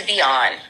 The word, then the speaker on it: Vion: Mine is Vion. I have like the feminine version of Vaughn, Vion.